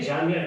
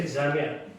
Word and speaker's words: Jamia: So I used to tell him, say Jamia, don't say Jamia.